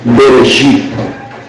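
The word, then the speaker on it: בְּרֵאשִׁית: en hebreo se dice: Bereshit bara Elohim Shamayim ve Haaretz. Así se dice en hebreo, Bereshit bara. La primera palabra entonces de ese versículo se escribe o se pronuncia mejor, Bereshit.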